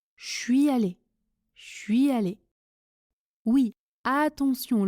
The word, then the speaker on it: je suis allé: Je suis allé se prononce je suis allé, je suis allé. Oui, attention, le son change complètement. Je suis allé avec le son ch de chocolat. La semaine dernière, je suis allé dans un château abandonné.